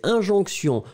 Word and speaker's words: injonction: Ensuite, c'est injonction. Souvenez-vous, injonction, eh bien, c'est féminin, comme tous les mots en ion. Une injonction, I-N-G-O-N-C-T-I-O-N. Hein, souvenez-vous, T-I-O-N, c'est vraiment le sion, sion, sion qu'on va prononcer.